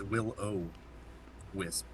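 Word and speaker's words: will-o'-wisp: Willow wisp yeah okay it's not Willow it's Will O wisp okay it's been a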